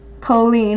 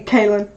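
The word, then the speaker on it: Cailín: It's pronounced Colleen.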